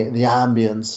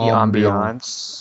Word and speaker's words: ambiance: The ambience is so great, and look at his portrayal. It's also It's pronounced The ambiance.